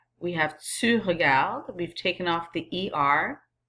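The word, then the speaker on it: regardent: so it becomes il regarde and elle regarde. Notice how I pronounce that. It's not il regardant, elle regardant. The ENT is very silent. Il regarde, elle regarde.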